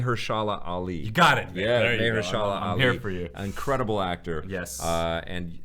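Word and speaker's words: Mahershala: Maya Ali May Hera Ali you got it mayala Ali incredible actor uh and and I think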